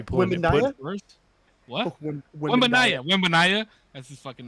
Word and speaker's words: Wembanyama: West Amberani. Bro, you could be pulling it. Wembanyama? First. What? Wembanyama.